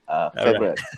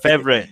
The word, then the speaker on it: Favoriot: Favoriot. Favorite. Okay. It's like your favorite company lah.